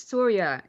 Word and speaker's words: Surya: i think it was soria it was yeah it was kind of more like pronounced like sonia but it was sore